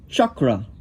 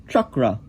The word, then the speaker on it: chakra: Now this is really how you say the word chakra. You put your tongue back there and you say chakra. That's unlike how many people say it these days. They say chakra, which is not, I would never say it's incorrect. It's a nice way of saying it. It's not really correct if you're going by the rules of Sanskrit. So it's more like chakra.